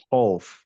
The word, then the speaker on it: خوف: খৌফ, নট খাউফ, خوف.